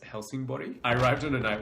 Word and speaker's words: Helsingborg: a smaller Swedish town called Helsingborg or house mostly pronounced Helsing body I arrived on a